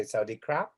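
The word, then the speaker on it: สวัสดีครับ: You say Sawadee Ka, goes up, and boys, men would say Sawadee Krap, like a P, but you don't breathe through it.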